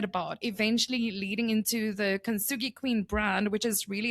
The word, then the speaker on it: Kintsugi: Can you pronounce it? Kintsugi.